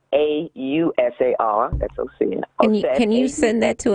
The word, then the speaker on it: Ausar: That's spelled AUSAR. That's Osir.